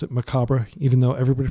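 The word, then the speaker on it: Macabre: continue to pronounce it macabra even though everybody pronounces maob sorry U because that's how it's pronounced in French and it's a French word um and uh let's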